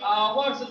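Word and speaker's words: hours: यहाँ पर देखेंगे यच है, यच लेकिन साइलेंट है, इसको हम लोग आवर्स पढ़ेंगे।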